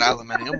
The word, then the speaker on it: aluminium: i to it oh so they spell it aluminium and pronounce it aluminium we spell it aluminum